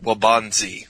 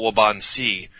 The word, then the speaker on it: Waubansee: thing look like well the producers told me to pronounce it well bonzi ok so that's how they went with it I used to call wabaunsee that weighs over 500